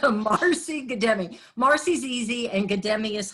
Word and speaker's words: Guddemi: Let me just clarify though, my name is pronounced Guddemi, Marcy Guddemi.